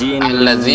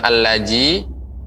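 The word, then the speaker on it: الذي: Mungkin yang perlu diperhatikan juga yaitu huruf za ya, alladzi ya, bukan allaji ya, bukan allazi tapi alladzi ya, za alladzi.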